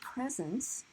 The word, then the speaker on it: present: of times you get presents. Presents, that's the noun. But if you go somewhere and you have to give a speech, you often present. Okay, that's on the second.